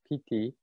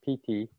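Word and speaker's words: pīti: of meditative joy 50 p-i-t-i pt and the i is like a long e sound pt so we have this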